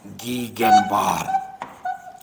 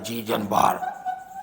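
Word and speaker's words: Gegenbaur: इसको भी याद रखिएगा कि term Platyhelminthes was coined bye गीगेनबार या जीजनबार, जो भी प्रोनाउंसिएशन अच्छा लगे आप कर सकते हैं, जीजनबार।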